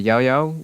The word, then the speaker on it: Yaoyao: And then we can move on to Yaoyao, which in Cantonese is yu. The specific tone is the Cantonese fourth tone, which is actually kind of difficult to pronounce. It's kind of a low falling tone, so I may be pronouncing it slightly weirdly, but it should still be correct. The Japanese is yo, and then in the Mandarin is Yaoyao.